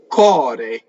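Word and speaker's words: core: Dal cɔre, cɔre, heart, right? Americans especially tend to close this, and it sounds like the word, I don't want to really say it, but it sounds like a part of the anatomy that's behind you, right? If you close it too much.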